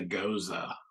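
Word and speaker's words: Gose: fruited goes or cows or however the heck they pronounce it they say goza but yeah it's uh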